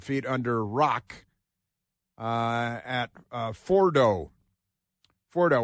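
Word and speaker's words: Fordow: under rock uh at Fordo Fordo which has a couple of different spellings but generally pronounced for so we'd be talking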